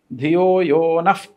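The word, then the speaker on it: ധിയോ യോ നഃ: അതുപോലെതന്നെ ഗായത്രി ആണെങ്കിൽ ധ്യോയോന പ്രചോദയാതല്ല ധ്യോയോനഹ എന്നാണ് ഉച്ചാരണം പക്ഷേ അത് വായിക്കുന്നത് നഫ് എന്നാണ് ഓക്കേ ധിയോയോനഫ് പ്രചോദയാന്നാണ് ഉച്ചാരണം ഈ നഫ്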